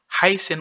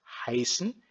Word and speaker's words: heißen: Heißen aussi, radical c'est quoi? H, E, I, S7. Ici, c'est S7. On prononce S7, c'est le double S en allemand.